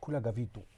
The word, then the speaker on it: Khula Gavito: Yes, Khula Gavito.